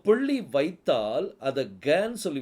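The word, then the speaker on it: גן: அடுத்தது நூன் சோபித் அதாவது noon no இதை எப்படி உச்சரிக்கணும் கான் கான் அப்படின்னா அதுக்கு அர்த்தம் தோட்டம் ஏதேன் தோட்டம் கார்டன்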